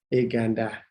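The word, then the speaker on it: ekanta: Ekanda. Eka and da. You see, only one end. Ekanda.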